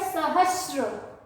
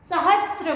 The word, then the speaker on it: सहस्र: ठीक है ना, लेकिन बोलते समय हम क्या बोल देते हैं, त्र, सहस्त्र बोलते हैं, सहस्त्र। उच्चारण गलत, शब्द गलत, उच्चारण सही, शब्द सही। सहस्त्र, आधा स और त्र नहीं, स में र की मात्रा।